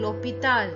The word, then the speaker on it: l'hôpital: So all these are beginning with vowels and l'hôpital is beginning with a silent H.